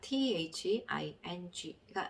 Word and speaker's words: thing: 자, 그 다음에 단어 끝에 NG가 나왔을 경우에는요, 그 끝에 있는 G는 소리가 안 나는 경우가 많다. 묵음인 경우가 많다. 여기서 첫 번째 한번 단어를 보시겠습니다. THING가 있죠.